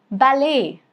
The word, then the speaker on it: ballet: Rule number three. Silent in French derived words. For example, ballet. The dance. Ballet.